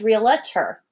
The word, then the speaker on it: realtor: For example, the word realtor, where I'm from, a lot of times we will say that word as realtor, and we add in a syllable.